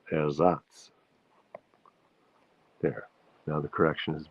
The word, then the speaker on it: Ersatz: Kirsten pointed out that I mispronounced the word Ersatz. That's how we say it in English, but in German it's Ersatz. The stress is on the Satz. So it's Ersatz.